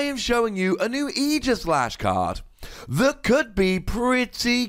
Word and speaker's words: Aegislash: done my due diligence and it is definitely pronounced aegislash now this is coming in the upcoming forbidden